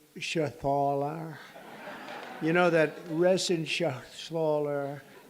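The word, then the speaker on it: Reschenthaler: Shala you know that resen Schaller he's uh that's actually the way you pronounce it you know nobody else gets it right I got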